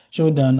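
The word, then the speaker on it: Shodan: Showdown and showdown is just so shodd is spelled s h o d a n you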